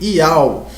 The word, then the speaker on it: Iau: A pronúncia sempre foi Iau.